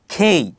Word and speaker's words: K: এর সঠিক উচ্চারণ কি হবে কে এর সঠিক উচ্চারণ হবে খেই পরবর্তীতে এলর উচ্চারণ দেওয়া আছে এল এল এম